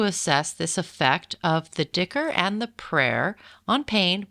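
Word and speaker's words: dhikr: prayer and they aimed to show that it's pronounced Dicker it's pronounced d h i KR excuse me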